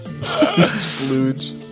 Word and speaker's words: Splooge: Splooge. I don't want him to be called. His name Splooge. should be spelled Splooge, and it should be pronounced Sploog.